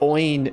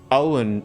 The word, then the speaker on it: Oin: I was trying to remember it, is the actual pronunciation of Gloin is actually, I think it's meant to be Gloin, not Gloin. So it's not Oin and Gloin, it's Owen and Gloin. According to like the way you'd pronounce those names, I believe.